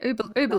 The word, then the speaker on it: oubliette: Yeah, oubliette.